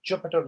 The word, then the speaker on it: Jupyter: So the notebook that we are running is actually a Jupyter notebook, and Jupyter is spelled as Jupyter, not PI. So it's Jupyter Jupyter notebook.